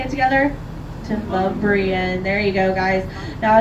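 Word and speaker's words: Demonbreun: It is actually pronounced Demumbrian. Yeah, if you want to southernify a French word, there you go. It is Demumbrian Street, everybody. You all want to say it together? Demumbrian.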